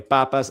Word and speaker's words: Papas: I'm pronouncing it the Spanish way. Papas alternative brew.